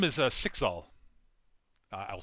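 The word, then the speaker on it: Cyxxal: very very old uh her name is uh sixal uh i'll spell that now c-y-x-x-a-l all right i'm writing that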